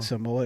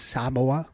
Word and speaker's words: Samoa: saying Samoa. It's Samoa. Yeah, Samoa. Samoa. You gotta put an emphasis on the A.